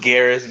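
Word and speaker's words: Geras: doing good hey what's up yeah it's it's pronounced Garris but I mean it's okay Mortal Kombat oh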